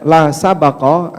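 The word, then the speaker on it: سَبَق: Baknya ini kalau dibaca dengan sukun, la sabqa, artinya tidak boleh ada perlombaan. Tapi kalau baknya di fathah, bacanya la sabqa, artinya tidak boleh ada taruhan.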